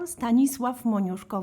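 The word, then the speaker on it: Stanisław Moniuszko: of your competition so we can avoid me mispronouncing it for an entire episode. International Staniswave Monosko vocal competition.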